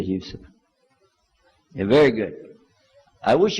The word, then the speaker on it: Yusuf: Yousef did you say Yousef let me say Yousef you're very good I wish you teach my wife she keeps mispronouncing it she calls me useless alhamdulillah we heard about you were used to